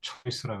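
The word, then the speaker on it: Zeus: 아르고 인바르데 제우스 초초이스 독일어에서는 또 제우스를 초이스라고 합니다. 에우가 오이로 발음돼서 예, 런던에 있는 런던 뭐 브리티 뮤지엄에 있는 항아리 같습니다.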